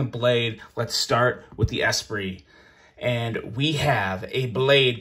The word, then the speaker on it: Esprit: Yes, this is the Esprit. You guys were very good at correcting my mispronunciation of this knife during my review.